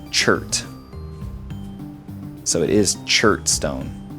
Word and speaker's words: chert: So anyways, I relearned it, at least, and it's pronounced chert.